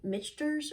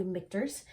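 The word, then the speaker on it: Michter's: pronouncing that wrong uh it looks like it could be pronounced like misters or something like that but it's actually mikters um as well as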